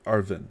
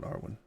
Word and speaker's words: Arvin: Sorry, Arvin, not Arwen.